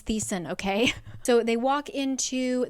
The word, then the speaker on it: Thesan: Anyway, let me look up how to pronounce his name. The sun. It's not the sun. Okay, I looked it up and it says that you pronounce it the sun. I'm not going to. His name is Thesan, okay?